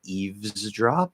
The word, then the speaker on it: eavesdrop: to pronounce the word there should be a v properly so you can say eavesdrop that is just v to z okay you should be